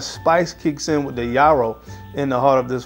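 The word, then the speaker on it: yarrow: very unique note of I think you pronounce it Yaro or Yaro uh y a r r o w Yaro and it's a spice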